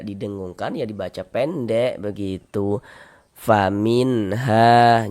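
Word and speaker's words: فَمِنْهَا: Faminha jangan dibaca famin dipanjangkan begitu. Jangan salah pendek saja. Faminha. Ha dibaca panjang.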